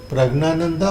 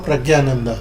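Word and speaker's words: Praggnanandhaa: Gugesh, Pragnananda, Pragnananda or Pragyananda? Pragnanand, it can be pronounced as both, sir.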